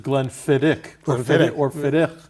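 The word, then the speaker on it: Glenfiddich: our viewers that uh the right way to pronounce it is Glenn fiddick yeah it's a Gaelic uh that's funny because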